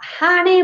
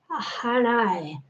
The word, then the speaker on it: Hanae: Honey Mori, la que lleva su nombre. Honey o Hanae. Yo la pronuncio como en latín.